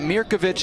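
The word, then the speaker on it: Mirković: work so you've got mirkovich and petkovic on the pit side raised in new york city they pronounced it the serbo croatian way with the itch at the end you've got will polisik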